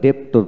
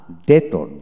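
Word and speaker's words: debtor: তারপর ডেটর, ডেটর, এখানে আমরা ডেপ্টর বলতাম না, ডেটর ডেটর। তারপর আসেন ডাউটেবল, ডাউটেবল, বি হবে না, ডাউটেবল, ডাউটফুল, ডাউটফুল।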